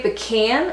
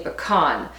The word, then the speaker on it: pecan: I grew up saying pecan, so I say pecan pie, but I know it's spelled pecan, and I know they like to say pecan in some of the states. But I like to say pecan. I just like the way it sounds, I guess, instead of pecan.